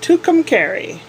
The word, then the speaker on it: Tucumcari: come carry New Mexico apparently that's how it's pronounced Tucumcari really kind of weird must mean something in